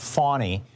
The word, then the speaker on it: Fani: with a SW and the reason it's pronounced fawny is because it's a Swahili name so there you go